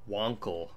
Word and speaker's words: Wankel: It's pronounced Wankel. What the fucking Germans? It's Wankel, technically.